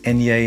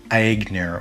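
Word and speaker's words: Aigner: is called super fragrance for men by etienne enye it's spelt a-i-g-n-e-r but it's it's pronounced na not agnir or whatever it is from 1978 and it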